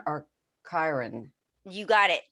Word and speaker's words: Chiron: want to make sure i present it uh pronounce it properly chiron or chiron you got it chiron chiron okay the chiron effect healing our core